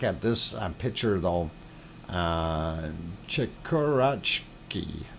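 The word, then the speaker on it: Chikurachki: this picture though uh chikkurachki chikarachki i do believe is a pronunciation of that volcano and we will go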